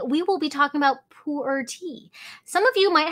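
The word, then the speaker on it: 普洱: i've visited poor and just kind of like the numbers one two three in chinese so that sound is poor that you would pronounce but in cantonese which i'm actually from hong kong so i speak cantonese it's bole totally different sound so bolecha is the same as puerti or puerta so that's kind of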